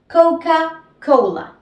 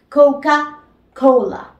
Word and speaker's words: Coca-Cola: y la l Cole Coca Cola Coca Cola vieron que no es coca-cola es Coca Cola y si dicen coca-cola probablemente no les entiende y la otra manera